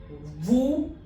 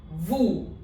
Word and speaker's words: vous: Tourist, vous, vous, and bonjour. Bonjour. Now this is vous, YS is not pronounced.